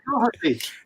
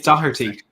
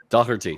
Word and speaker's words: Doherty: And obviously with Emerson Doherty out. Did I say that right, Matt? Doherty? No, pretty close. Pretty close. It's not Doherty. It's Doherty. Doherty.